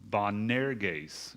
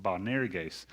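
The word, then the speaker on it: Boanerges: try and pronounce this bonair gays is the way that that is supposed to be pronounced bonarigase which means son of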